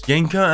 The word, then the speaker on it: Ginka: Yes, I know the name's spelled with a G, but it's a silent letter. So anyways, Ginka and Luna is a